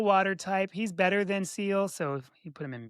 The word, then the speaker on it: Seel: seal, which is spelled Mhm. SEEL, number Aw, 86.